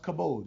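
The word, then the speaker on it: כבוד: another Semitic root word cavod sometimes it's pronounced cabode you know the V and the B those consonants interchangeable sometimes kavod which is used for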